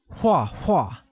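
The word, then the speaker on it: 画画: draw literally translates as hua hua which is pronounced with the falling tone note that the same word is repeated twice while saying wah wah excellent let's look at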